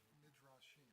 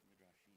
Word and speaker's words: Midrashim: And how do you pronounce? Is it Midrashim? Midrashim. Midrashim.